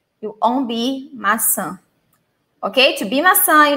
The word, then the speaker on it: maçã: Maçã, Rosália, muito bem. Yes, Yami, todo mundo. Mas muito cuidado com isso. M-A-C-A, just like this. Maca. Not maçã.